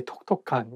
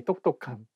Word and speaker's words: 똑똑한: You cannot say 똑똑한, you cannot say 톡톡한. You have to say 똑똑한.